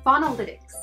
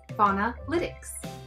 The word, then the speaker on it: Faunalytics: It's pronounced Faunalytics. Faunalytics.